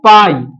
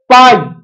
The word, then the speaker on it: π: পি আই ঠিক আছে পি আই মানে পি পি না এটাকে একচুয়ালি উচ্চারণ করা হয় পাই ওকে উচ্চারণ করা হয় পাই অর্থাৎ সংখ্যাটা কি সংখ্যাটার